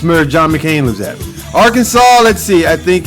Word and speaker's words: Arkansas: Arkansas, let's see, I think it's there's a legal code instituted in Arkansas that explains how the state's name should and shouldn't be pronounced. While you probably won't get fined for pronouncing the last S in the state's name, it is technically illegal to mispronounce it while in Arkansas.